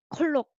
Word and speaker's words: 콜록: 자, this one is again four syllable, but you can just write two syllable. 자, here comes the sound. 콜록, 콜록.